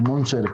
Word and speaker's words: Müntzer: Probablemente Müntzer habría que publicar, que pronunciar el Müntzer con U con diéresis a la alemana.